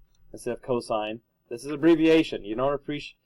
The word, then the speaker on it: cosine: help me please mogen you don't actually pronounce announce the abbreviation it stands for something M so limit cosine sign not limb sin and cost or got it all right